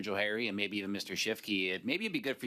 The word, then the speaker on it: Schiefke: Shifke, on a point of order. Sure. Sorry, it's just a quick clarification. My last name is pronounced Shifke, It's just a Chief K.